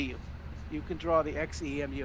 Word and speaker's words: xEMU: that's what we're going to do on our xemu suit today did i say it right patricia